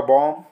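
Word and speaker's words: bomb: example देख लेते हैं जैसे हम देख रहे हैं biomb तो एम के बाद क्या ए रहा है यहां पर बी ए रहा है और नियम में भी कहा गया की अगर एम के बाद अगर बी ए रहा है तो बी जो है वो साइलेंट हो जाता है जैसे ये हो जाएगा बम फेरी हो जाएगा यहां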